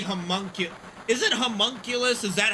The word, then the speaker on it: homunculus: It's probably homunculus. Is it homunculus? Is that how you pronounce that word? I always say I started with human and then it's like humunculus.